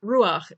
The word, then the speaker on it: Ruach: rah sone wrought soon this word Ruach demonstrates an exception to the usual rules of reading Hebrew Ruach means spirit or